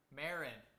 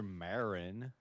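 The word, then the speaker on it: Merrin: chat for you yeah well I'm looking at the Wikipedia and it's spelled m-e-r-r-i-n that's marriage I know that like Mary Merry Christmas Maryland uh okay so father Marin yeah well uh I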